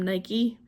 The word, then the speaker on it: Nike: I'm probably not saying that right, but um Nike is actually how the name of the goddess is uh pronounced.